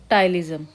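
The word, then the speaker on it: ptyalism: पेटाइज म ठीक है पी शायद साइलेंट रहेगा यहां पर इसको बोलेंगे हम क्या बोलेंगे टाइजम ए मींस टाइजम हुआ तो अब्सेंस ऑफ स्लेवरी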